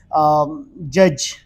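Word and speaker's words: judge: इसका प्रोनाउंस नहीं करोगे लाइक जिस तरह हम बोलते हैं ना जज क्योंकि क्यों इस वजह क्या है क्योंकि दी के बाद आया है जी और दी के बाद जब जी ए जाए या दी के बाद जी ए जाए तो दोनों केसेस में आपने दी को साइलेंट रखना है तो ये प्रोनाउंस हो जाएगी जज नॉट जज सेमिली अगर आप एक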